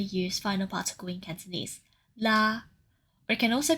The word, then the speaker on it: 喇: Let’s move onto another commonly used final particle in Cantonese: 喇 , or it can also be pronounced 嘞 .